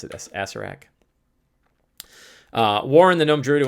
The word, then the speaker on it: Acererak: They pronounce it as Acererak.